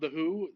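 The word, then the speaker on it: The Hu: They do have a heavy metal band called The Who and it's spelled Hu.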